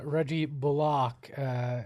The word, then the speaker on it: Bullock: Look, Reggie Bullock, we've been told that's how we're supposed to pronounce it.